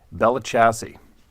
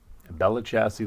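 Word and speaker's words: Belle Chasse: a town there called Bella chassis I'm pretty sure that's how it's pronounced b-e-l-l-e-c-h-a-s-s-e Bella chassis Louisiana there's a man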